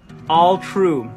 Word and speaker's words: Alu-tru: All true. The U is silent because all of you are truly Shut the front door with that gorgeous little, like, hey, I have a catchphrase.